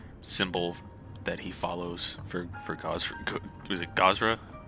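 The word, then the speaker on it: Gozreh: and making the symbol that he follows for Gosra. Was it Gosra? How you say it? Gozer.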